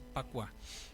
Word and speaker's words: Pakua: Esos trigramas están colocados exactamente en un octágono y es lo que mucha gente conoce como Pakua o Bagua, pero su pronunciación correcta es Pakua.